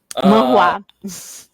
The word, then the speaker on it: manhua: Não sei como pronunciar isso, Michelle. Vai ficar assim. Manhua.